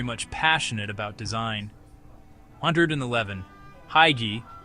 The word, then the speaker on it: hygge: Hygge, pronounced hygge, not hygge, is a Danish word for acknowledging a moment or feeling as cozy or special.